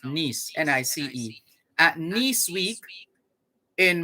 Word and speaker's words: Nice: modern automobile at nice it's spelt nice but it's french it's pronounced nice n-i-c-e at nice week